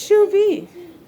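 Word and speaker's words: Chauvet: v shoe like it's shoe v it's shoe v yeah did you take french listen to her then i use my translator app and she's like shuvey so shoe bay shoe bay am i saying it right so it's shoe and then vey all right okay what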